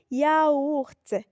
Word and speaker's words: yaourt: Mais attention, si on a la lettre Y en début de mot, elle se prononce I. Exemple, yaourt, yiti.